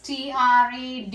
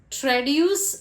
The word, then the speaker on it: traduce: others next word is t r a du u c e there are two ways to pronounce this word and that is traduce and tradu you can